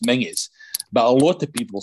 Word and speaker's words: Menzies: people in my generation though it should be pronounced mingus but a lot of people spell it because it looks like a zed as menses and mackenzie gets the same but for example